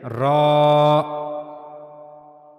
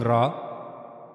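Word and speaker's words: راء: For pronouncing rah, you have to use top of the tip of the tongue and uh it will connect to the gum of the two top front teeth.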